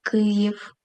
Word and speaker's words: Київ: Давайте разом побудуємо звукову схему до слова Київ. К приголосний твердий. голосний ї. Подивіться уважно. Стоїть після голосного, тому позначає два звуки. Приголосний м'який звук й. голосний і в приголосний твердий звук Київ. Наголос падає на перший склад.